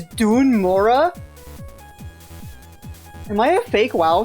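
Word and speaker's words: Dun Morogh: never noticed that the the way that this place is pronounced is Dun Mura. I've been saying it like Dun Maro my whole life. It's Dun Mora.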